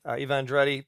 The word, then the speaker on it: Eva Andrade: So I'd like to welcome to the program the president and CEO of the Hawaii Family Forum, Eva Andrade. Eva Andrade, thank you so much for joining us, Eva.